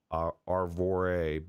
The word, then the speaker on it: Arvore: And Mamefan says it's pronounced like Arvore, but Brazilians roll the R.